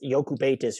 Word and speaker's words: Jokubaitis: That's Jokubaitis, who the Knicks got as the number 36